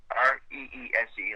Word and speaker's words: Reese: Res like Reese's Peanut Butter Cup.